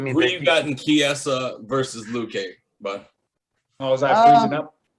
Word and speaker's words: Chiesa: Oh, the H is silent. Yeah, it's like Dierte. It's fancy. It's fancier. So it's like Chiesa.